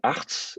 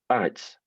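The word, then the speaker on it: ארץ: Donc, au lieu de dire arts, on va dire arets. Avec ce petit « et » comme ça entre les deux, mais qui ne prend pas l'accent, bien sûr. C'est-à-dire que la syllabe qui est accentuée, la voyelle qui est accentuée, c'est la seule voyelle, la seule vraie voyelle, c'est le A.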